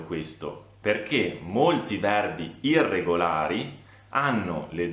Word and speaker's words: hanno: Io ho, tu hai, lui, lei ha, noi abbiamo, voi avete, loro hanno. Ricordatevi che la lettera H all'inizio del verbo non si pronuncia, è una lettera muta.